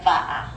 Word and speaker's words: va'a: and this is an exception to the W rule. It's a va'a, Va'a.